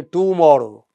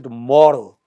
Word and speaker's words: tomorrow: We don't say tomorrow. We say tomorrow, today, you know. So day is stressed. In tomorrow, more is stressed.